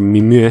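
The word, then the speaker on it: Mimieux: name to something rather mimir why is there an x at the end of it if you're not going to pronounce it frenchman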